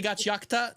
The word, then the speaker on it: Gachiakuta: I was like, Gachiakuta. Technically Gachiakuta, because ku in Japanese can be just k, depending on how fast it flows by, but like I don't know.